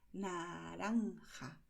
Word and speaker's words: naranja: En español eso no existe. En español nosotros decimos naranja. La lengua va hacia adelante, hacia los dientes. Y el movimiento es rápido. Pum, pum. Naranja.